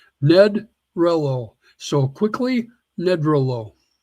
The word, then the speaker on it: Nedrelo: Nope. Rhymes with hello. Ned Rello.